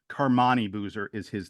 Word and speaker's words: Carmani: Carmani Boozer is his name, the older brother.